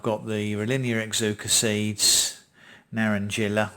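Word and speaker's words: naranjilla: the linear exuca seeds narendrilla or it might be pronounced naren hiller mountain papaya colombian red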